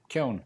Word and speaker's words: Keown: Imagine that it rhymes with moan and groan and bone and stone. Stick a K in the front. Keown.